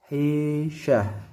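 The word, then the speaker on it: فاحشة: Fa fahisyah. Ini dibaca ha. Tak marbutoh ketika dia dibaca waqaf seolah berubah huruf menjadi ha.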